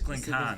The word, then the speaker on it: Glencairn: It's Glencairn. There's a Scottish twang to it though.